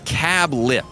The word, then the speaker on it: Cablp: We look forward to dining with you at Cablp, pronounced Cablip, semicolon.